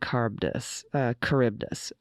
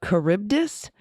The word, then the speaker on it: Charybdis: All right, several corrections on the pronunciation of Scylla and Charybdis.